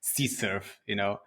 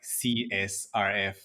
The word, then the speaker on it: CSRF: It's like the same thing as C-surf, I remember so many people still calling it like CSRF when you should just use C-surf.